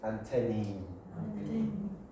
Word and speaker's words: antennae: Okay, however, the pronunciation in English is antennae. One antenna, many antennae.